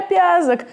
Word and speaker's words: Пязок: Меня зовут Пяк, помните, меня зовут Пязок, и я очень хотел, чтобы люди запомнили правильное произношение моей фамилии .